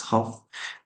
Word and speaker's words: half: It's not half, it's half. There is a silent letter. Uh use it. L is here, silent letter. It's not pronounced.